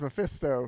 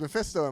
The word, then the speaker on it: Mephisto: No, that's not how you say it either. Now you've fucked up my pronunciation How of do you say it? It's Mephisto. Mephisto. thankfully. There we go. We're done. It's Mephisto in Marvel.